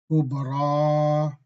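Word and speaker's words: كبرى: Kubra, fatha, on the last letter, then the ya is also alif maksura. We have to stretch when we pronounce kubra.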